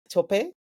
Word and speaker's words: Tope: So, Tobe, the mic is yours, please. Thank you very much. And I'll actually teach you how to pronounce my name the African way. It's Tope. Tope. Tope, yes.